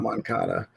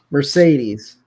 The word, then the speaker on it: Mercedes: Not Moncada, Mercedes.